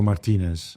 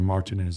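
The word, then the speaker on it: Martínez: It's Roberto Martinez, or Martinez, as people call him in this country.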